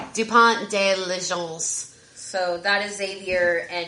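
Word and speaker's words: Dupont de Ligonnès: Do you want to pronounce that last name for me? It's Dupont de Legence.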